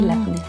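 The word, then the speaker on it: labneh: Say labne. Lebanon. That was easy. Okay, no. Labne. Oh, okay. I said it wrong.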